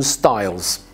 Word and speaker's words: Styles: My name is Stiles, and that's actually how you say my name.